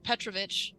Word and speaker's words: Petrovic: father Patrol uh um let me show how you say his name right would she be around here or father Petrovic uh yeah she she she's